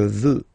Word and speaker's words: veux: Final X not pronounced. Je veux.